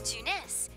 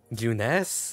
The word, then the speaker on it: Junes: great at your J juness every is great at your J bless it's I thought it was pronounced Junes but no it's Junes you can save the